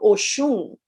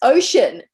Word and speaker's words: Oshun: as Auset was saying, mispronouncing Oshun, that is sacrilegious. If I went into my terreiro in Brazil and went, oh, it's ocean.